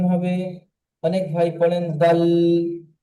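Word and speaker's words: دال: জি, দাল, জাল। জি, আমি বলেছিলাম, আল। জি, আমি যখন পড়িয়েছিলাম, আমি তখন আপনাদেরকে বলেছিলাম যে এই অক্ষরগুলি কেমন উচ্চারণ হবে। অনেক ভাই পড়েন দাল, জাল, এমনটি উচ্চারণ আপনারা করবেন না, এটা ভুল উচ্চারণ।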